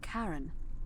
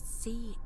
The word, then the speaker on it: Charon: The name you heard wasn't Karen. It was Charon.